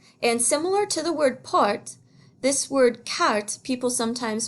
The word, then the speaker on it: porte: Sometimes people pronounce this une porte, and that's not really correct. That E is silent. Same with this, une fenêtre. So we say une porte, and une fenêtre, une fenêtre.